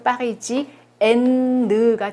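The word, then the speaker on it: parisienne: 파리지앵 이것도 마찬가지로 파리지엔느가 되는 거예요.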